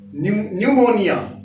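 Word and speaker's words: pneumonia: अब ये देखिए पी साइलेंट कहां आता है, बिफोर एन और एस, पी एन आ जाए, एस एन आ जाए, तो पी साइलेंट रहेगा। देखिए एन से पहले पी आया, न्यूमोनिया, न्यूमोनिया तो पी साइलेंट है,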